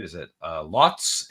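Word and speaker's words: Lhotse: right is it uh lotz l-h-o-t-s-e the e is silent i believe lots and the other one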